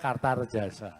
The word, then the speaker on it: Kartaredjasa: Karena so tulisannya A, bacanya Kartarejasa.